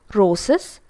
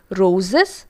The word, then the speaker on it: roses: c sound not zero but here for the first and the second the ending is with z so roses and dogs and the third one is looks but what we tend to do is we tend to pronounce these words as roses dogs looks so we tend to follow the same pattern but it actually isn't correct it should be roses dogs and looks now taking the past